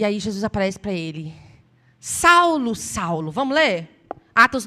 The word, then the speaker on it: Saul: dele em hebraico e a pronúncia correta a escrita correta é Saul Saul Saul Por que